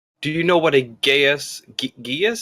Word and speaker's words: Geas: the way it's spelt, it looks like Gaius. Yeah. I mean, go to Google and hit the microphone. It says Gesh.